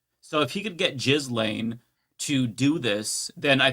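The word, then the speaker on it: Ghislaine: It's It's spelled that way, but I think it's pronounced as Gain. Yeah. No. Okay. Go to one of the the um how to pronounce videos. It is Jiz Lane.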